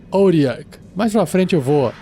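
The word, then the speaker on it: Otyugh: com limos ugs Puxa essa criatura se escreve o t Yu G H em inglês se pronuncia orac mais pra frente eu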